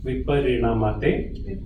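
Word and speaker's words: विपरिणमते: So N is capital N, so it is, you twist your tongue up. No, it's like the N with the dot below. Viparinamate, Viparinamate.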